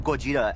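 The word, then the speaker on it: Gojira: American audiences know this character as Godzilla, but the name Goja actually is pretty self-explanatory uh because it's a combination of Gorda, the Japanese pronunciation of gorilla, and then Kujira, which is the Japanese pronunciation of whale.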